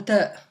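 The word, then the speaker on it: ت: La lettre Ta, donc j'ai bien dit Ta, ça s'écrit avec 2 points pardon, au-dessus.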